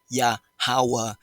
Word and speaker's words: Yahawah: the most high whom's his real name his pronoun phonetically pronounced correctly righteously sounding it out in the first form or dialect of the true ancient Hebrew Israelites of the true 12 tribe chart is yahawa he has been he